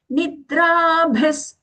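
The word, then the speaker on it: निद्राभिः: Nidrabhis. Nidrabhis. Ani, half da is coming as aghata. Nidrabhis. Here after bhi, mahaprana bhi, we are getting that visarga, which is being pronounced as half sa.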